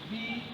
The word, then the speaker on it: busy: Then the word busy, as we pronounce it, busy. So you find out that the letter U here sounds as E, and the letter Y here sounds as E. Then the word bead.